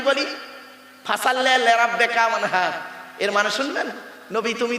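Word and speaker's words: وانحر: এই গলার ভেতর থেকে হ্যাঁ এটা উচ্চারণ করবেন, হাই হুতি হাই হাওয়াজ নয়। ফাসাল্লি লিরাব্বিকা ওয়ানহার, মুরব্বিরা ভালো করে শুনে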